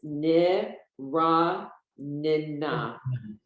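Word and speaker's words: נְרַנְּנָה: Because the syllable doesn't end when there's two letters together like that. So it's niranina. So that's the only time in the middle of a word that you pronounce the shva, when there's a double letter.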